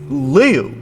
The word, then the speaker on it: Leo: Their given name is Leo. Rhymes with Mayo.